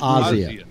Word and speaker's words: Asia: Argento Bossier it's not I think it's pronounced Asya Asiago whatever Razia Argento